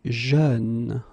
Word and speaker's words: jeune: Same thing, you don't say je, you say jeune, okay?